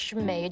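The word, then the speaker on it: Chamaid: It's Shemaid, how you say it? Yes. How do you spell that?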